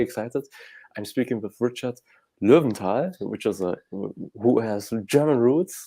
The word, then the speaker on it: Lowenthal: I'm speaking with Richard Lowenthal, who has German roots. So I'm pronouncing it in a more German way.